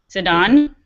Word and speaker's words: Zidane: I don't know how you say it in English, but Zidane.